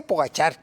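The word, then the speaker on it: Pogačar: De hecho, muchos le dicen pogacar, muchos pollachar. Entonces, pogachar, este, en una entrevista que le hicieron a él, a ver, y tú cómo se pronuncia, le dije, dijo él, yo le digo pogachar y así me entiende.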